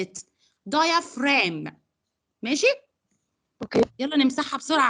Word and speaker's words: diaphragm: how I pronounce it. diaphragm.